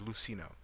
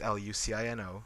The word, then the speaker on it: Lucino: But mostly in um in Spain itself the C is pronounced not in the traditional sense that we think C sounds like. Uh for example, my last name is uh is Lucino.